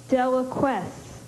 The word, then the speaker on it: deliquesce: Deliquesce.